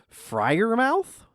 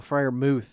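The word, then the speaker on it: Freiermuth: here friar mooth oh friar mooth is the uh the pronunciation and it is it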